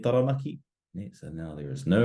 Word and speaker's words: Taranaki: How would you pronounce the following? So first we have rotorua, rotorua, whakatāne, whakatāne, and taranaki, taranaki.